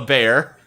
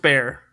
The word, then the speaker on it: Bexar: Uh it's spelled uh Ursula and then Bear is spelled b e x a r. But pronounced Bear.